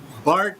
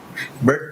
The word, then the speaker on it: Burt: Attorney, Bart ba o Burt? Paano ba ang pronunciation? Kasi B-U-R-T eh. Bert pa rin po. Burt pa rin. Okay, kasi iba Bart eh.